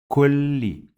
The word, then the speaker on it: كل: We pronounce this lam 2 times. Kulli, kulli. So that's why it has shadda, and the second sound is with kasra.